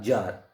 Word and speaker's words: Tsar: यहाँ पे राजा को बोला जाता था जार, TSAR, जार. अलग लगता है प्रोनाउंसिएशन लेकिन जार होता है.